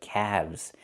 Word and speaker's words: calves: Not calves, but calves. The L is silent and we pronounce the V sound with vibration plus the Z sound like zebra together. Calves. You have two calves.